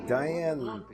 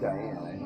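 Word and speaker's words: Diahann: Well, I think it's Diane. It's spelled weird.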